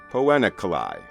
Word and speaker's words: Poena Cullei: I could find on record pronouncing this term, pronounced it as Poena Cullei, or Poena Cullei.